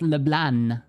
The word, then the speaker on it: LeBlanc: Oh, they don't pronounce the C at the end. I see. Like the French, like we say LeBlanc, but actually they pronounce the N, and that's not good. LeBlanc, not LeBlanc.